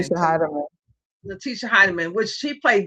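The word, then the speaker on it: Natisha Hiedeman: Natisha Heidemann.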